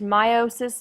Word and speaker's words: meiosis: Alexander and this is the third and final part for our unit six chapter seven notes meiosis pronounced meiosis meiosis is the process of making sex cells